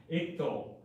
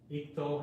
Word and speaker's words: Yiqtol: So, but just remember that what you actually, the way you pronounce the name of this form also gives you the vowel patterns. So Yiqtol has an I and an O and a schwa, right?